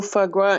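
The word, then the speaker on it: foie gras: the F fogua so is that how you say it fogua oh fogwa yes um the um the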